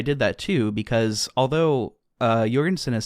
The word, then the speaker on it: Jorgensen: After having listened to an interview with him, he does pronounce his name Jorgensen with a hard J.